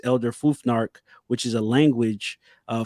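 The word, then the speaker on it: Elder Futhark: and that is uh Elder I always say it wrong but it's Elder fuar which is a language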